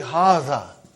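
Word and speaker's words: هذا: See, it is pronounced like Haza. But this alif is not written. It is explained in the key also.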